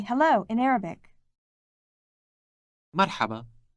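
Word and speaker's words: مرحبا: say hello in Arabic Marhaba Marhaba this word contains that sound pronounced deep in the throat make sure you imitate the speaker as closely as possible merhaba merhaba in Arabic you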